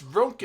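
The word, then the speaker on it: Röntgen: 15 and Do you not to know the how to large- pronounce We have 15 Rontgen, minutes. Drayden? It's Ronkin.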